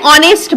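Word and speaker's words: honest: Sorry, অনেস্ট, এইচ একটা, এইচটা তো একটা কনসোন্যান্ট, এইচটা একটা কনসোন্যান্ট। তারপরও কেন তাহলে অনেস্ট? আমরা উচ্চারণটাকে সবসময় এখানে কিসের উপর জোর দেওয়া হচ্ছে? উচ্চারণ বা প্রোনাউন্সিয়েশনের উপর গুরুত্ব দেওয়া হচ্ছে। তো এখানে সেই জন্য কি হলো? অনেস্ট, অনেস্টের আগে সেই জন্য কি হচ্ছে? অ্যান হলো। এই এইচটা তখন কি হয়ে যাচ্ছে? এটা সাইলেন্ট হয়ে যাচ্ছে।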